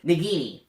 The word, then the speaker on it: Nagini: It's the snake, Voldemort's snake, Nagini.